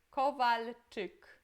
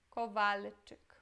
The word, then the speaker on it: Kowalczyk: Aqui temos CZ, que tem som de T, e Y, que tem som de I, ok? I. Kowalczyk. Kowalczyk.